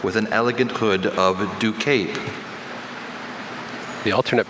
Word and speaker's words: ducape: red carpet look with an elegant hood of ducape. The alternate pronunciation should help him with the first syllable, but he might be thinking of other possibilities on the back end.